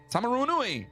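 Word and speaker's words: Taumarunui: Tamarunu. Did we have this one already? I don't know. Hold on. I'm looking. Tamarunui.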